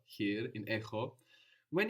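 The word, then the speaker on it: χι: Actually we see this in the name of this letter which is he. So you can see it's softer there. The letter he.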